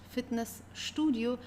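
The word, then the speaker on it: Fitnessstudio: In this case, al although you have st in the middle of the sent of the word, you still have to pronounce it as fitness studio because here we have put two words together and the second word start with an s starts with an st.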